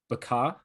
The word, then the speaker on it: Bekaa: had lost sight of, and I hope I'm pronouncing it correctly, Bekaa Valley. Yeah, or Becca Valley.